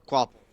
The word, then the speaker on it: Capel: That's not how you say it. There's no W. Quapple.